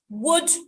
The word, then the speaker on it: would: is world um but there are some words that you don't need the lateral the lateral is silent there are a number of them three could would should so it's not called